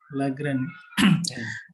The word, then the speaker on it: Lagrange: Ini bacanya gimana? Lagrange.